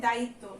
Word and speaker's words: দায়িত্ব: তারপরে এখানে দেখো লেখা আছে দায়িত্ব। তয়ের সঙ্গে যেহেতু ব আছে তাই তয়ের ডাবল উচ্চারণ হবে।